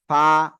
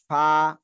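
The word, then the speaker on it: ف: calf না এটা হলো ফা ফা নিচের ঠোঁটের পেট উপরের দুই দাঁতের আগায় লাগিয়ে হালকা বাতাস বের করে উচ্চারণ করতে হবে ফা ফা সবাই জোরে জোরে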